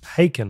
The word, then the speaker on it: Haken: the english progressive band haaken pronounced haken you're so dumb you